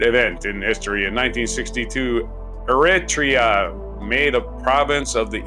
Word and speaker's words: Eritrea: In this featured event in history, in 1962, Eritrea made a province of the Ethiopian Empire. On this day in 1962, the Ethiopian Parliament in the Eritrean Assembly voted unanimously for the abolition of Eritrea's